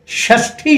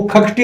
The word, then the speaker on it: षष्ठी: लीजिए षष्ठी शब्द है, जी, उसको क्या बोलते हैं वो? अरे मूर्धन्य शकार है, यहाँ ख बोलना है, वो खखटी बोल देंगे उसको।